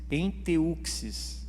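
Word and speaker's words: ἔντευξις: Enteuxis, é assim que se pronuncia.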